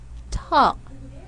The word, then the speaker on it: talk: So we're not going to say walk or talk, but we say walk, talk. Letter L is silent.